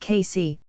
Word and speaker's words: Cayce: according to Edgar kisay Edgar kisay pronounced casy was a simple Sunday